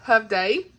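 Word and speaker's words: Hovde: I've got Janelle Hovday, and that's how you say it, Hovday. Hovday, I don't Hovday. Oh my gosh. See, it's Hovday because I messaged her on Instagram. I said, hey girl, how you pronounce this? Because reasons. And she said she agreed it's Hovday.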